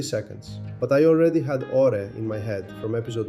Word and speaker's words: AURÉ: Oh, pronunciation? AURÉ, like the gold it's named after.